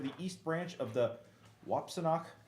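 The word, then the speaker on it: Wapsinonoc: 6 bridge over the east branch of the Wapsinock, how do you say that? Wapsinock? Wapsi-no-not.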